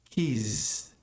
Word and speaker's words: kiss: Som fechado de I e o S tem som de S.